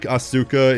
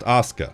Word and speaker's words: Asuka: Like, yeah, technically that spelling can also be Shana, but it's like Auka in GTA 3. In real life, it should be pronounced Asuka.